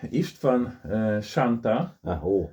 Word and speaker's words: Istvan Santh: Ishtan Shantaa super yes I pronounced correctly from Hungary from Hungarian Academy of